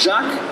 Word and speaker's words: Jacques: Jacques. It's French. Jacques?